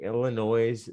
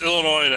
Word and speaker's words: Illinois: crimes according to the illinois state government this would have been classified as a hate crime it's illinois illinois i i almost said the same thing you don't pronounce the s we all know it